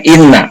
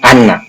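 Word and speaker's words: إنّ: Jadi setelah qala, kalau kesananya ada inna, nah itu pasti kasroh dibacanya, inna bukan anna ya.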